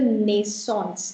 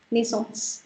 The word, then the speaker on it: naissance: It's that the naissance. Don't pronounce it in English. Naissance.